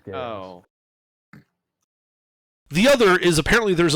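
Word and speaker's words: geas: by a spell called Gaye or gaos it's pronounced gayos the other is apparently there's a lead on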